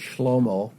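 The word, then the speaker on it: Shlomo: Uh Solomon is Schlommo, but uh we we get Solomon because of the way they rendered the letters and the vowels.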